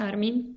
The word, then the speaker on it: Armin: The book also is about, critically, Layla's brother, and help me with the pronunciation. Is it Armin? Yes, Armin. Yeah. Armin, yeah.